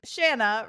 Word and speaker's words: Shanna: Hey, ladies, my name is Shanna, rhymes with banana, and my pronouns are she, her.